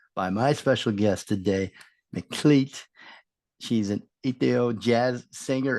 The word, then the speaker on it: Meklit: It's pronounced Meklit and rhymes with beat.